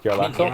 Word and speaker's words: Jarlaxle: I've heard people pronounce it Jarlaxle, but I don't think it's with a hard J.